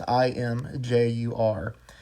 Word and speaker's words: Imgur: on a site called, I think it's pronounced Imgur. I don't know. It's Imjur.